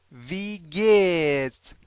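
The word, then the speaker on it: wie geht: وی گت وی گت وی گت دقت کنید این وی مثل این مثل انگلیسی تلفظ نکنید وی وی نیست وی هست همون وی خودمون همون جوری که فارسی میگید همینم بگید وی گت اینو باز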